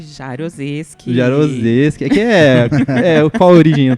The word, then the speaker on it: Jaroseski: curso de Ciências Contábeis da UX, a Sinara Jarozinski, acertei a pronúncia? Jarozeski.